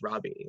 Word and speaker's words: Roby: but it's at Odang, it's Robbie, and that's spelled Roby.